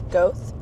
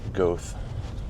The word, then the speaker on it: Goethe: pronounce the state forest it's goth g o e t h e goth and in reading about